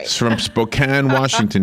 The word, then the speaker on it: Spokane: He's from Spokane, Washington. Do you say Spokane? Spokane. I think it's like tomato and tomato.